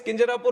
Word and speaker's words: Kinjarapu: And my name is Kinjarapu Ram Mohan Naidu.